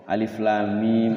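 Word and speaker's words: الم: Nah itu lamnya itu dibaca alif lam mim. Lamnya diidghamkan atau dimasukkan ke mim. Jadi lamnya enam harakat. Sebelum baca mim gunah dulu. Masuk dulu la. Mim gitu. Tapi kalau alif enggak dibaca, enggak dibaca panjang.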